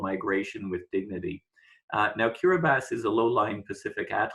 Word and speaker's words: Kiribati: told that the the people who live there pronounce it as Kira bass they're former president anote a Tong has talked about something called migration with dignity now Kira bass is a low-lying Pacific at all state where